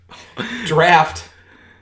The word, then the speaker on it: draught: Drought style. Draft. Yeah. Or draught. Draft. I'm very British right now. Listen, if they're going to spell it the British way, that's just with the draft.